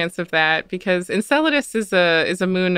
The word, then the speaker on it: Enceladus: that because enceladus is a is a moon of saturn and